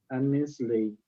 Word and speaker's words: Annesley: com pessoas difíceis, de Mike Annesley, que é assim a pronúncia.